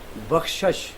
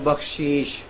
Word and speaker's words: بخشش: مثلا ایک نعت خان وہ پڑھتا ہے، لفظ ہے بخشش، وہ پڑھتا ہے بخشیش. بخشش لفظ ٹھیک ہے، بخشیش کا معنی اور ہو جاتا ہے.